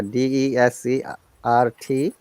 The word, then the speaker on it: desert: and before we answer how do you pronounce the word because there is remember if there is a confusing a d-e-s-e-r-t rt and this one is d e s